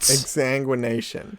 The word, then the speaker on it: exsanguination: charles xavier's school for the gifted examination what exsanguination you're making up words e-x-s-a-n-g-u-i-n-a-t-i-o-n the reason i